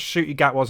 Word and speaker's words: Ncuti Gatwa: be bothered to pronounce Ncuti Gatwa's name correctly. It's not difficult. Why do people see a word and go, there's an N in front of a C?